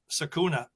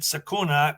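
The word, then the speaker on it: Secuna: George yeah yeah well the Sakura was just s-e-c-u-n-a yeah so I just pronounced it sakuna I'm you don't hear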